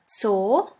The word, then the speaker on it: Zoo: And the last letter is Z, Z, which is pronounced like the S in the word bits. Here we have the example of the word Zoo, Zoo, which means zoo.